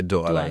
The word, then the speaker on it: Douala: across 15 Nigerian states, plus a center in Douala, Cameroon. Did I pronounce that right? Yeah, Douala, yeah.